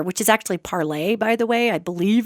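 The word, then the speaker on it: Parler: You know, there's a social media site called Parlor, which is actually parlay, by the way. I believe it's pronounced parlay. It's a French word that means to talk, to speak.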